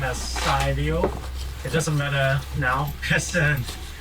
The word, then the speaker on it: Cy: Uh so my pronounce my my name as Sio.